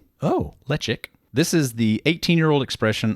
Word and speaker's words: Ledaig: Pronounced lechic. Oh, lechic.